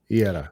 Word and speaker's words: Eira: How do you spell it? Is it AIDA? No, it's EIRA. Iera.